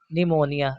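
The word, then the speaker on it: pneumonia: यदि पी के बाद में एस और एन हो तो पी साइलेंट होता है। फॉर एग्जांपल के लिए निमोनिया। दोस्तों यहां पे पी के बाद एन आया है इसलिए पी साइलेंट यानी पी को नहीं पढ़ा जाएगा।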